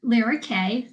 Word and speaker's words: Lira Kay: am really happy to be here today with Lara K am I pronouncing that correctly yep okay so my intention